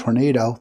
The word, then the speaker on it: Hornado: Um uh Sakate Chakrabarti in California and George Hornado. That was an easy one because he's uh it says rhymes with tornado.